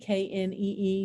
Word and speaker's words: knee: consonant les silent letters the knee k-n-e-e used to be pronounced kanee okay that's but then eventually it became knee so it became a